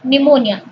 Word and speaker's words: pneumonia: So kindly note the spelling of diarrhea, but Timothy died of pneumonia. Timothy pneumonia रे मरिथिला. और pneumonia रो spelling भी तुमने notice करो. P eighty silent रहिबो, then लिखा हबो pneumonia.